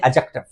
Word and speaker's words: adjective: मतलब क्या होता है बहुत बार लोग इसको एडजेक्टिव पढ़ते हैं लेकिन एडजेक्टिव में डी साइलेंट है तो आप बोलेंगे एडजेक्टिव तो एडजेक्टिव की बात